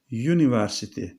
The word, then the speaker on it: university: ünsüzle başlayan ünlü başlıyor Ama telaffuz da önemli Çünkü birkaç tane örnek var biliyorsun mesela bakın şuraya yazayım biz normal dana Türkçede üniversite diyoruz ama İngilizce'de you harfi alfabede görmüş hatırlayın University yani yıl y harfi ile başladığı için